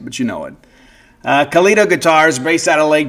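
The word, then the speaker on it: Calido: That's C A L I D O. Kido, right? Rhymes with Leo. I'm not going to sing it, but you know it. Uh, Kito Guitars based out of Lake Jackson, Texas.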